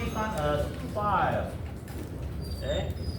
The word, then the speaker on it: Phi: We pronounce this one as Phi. Okay? Phi.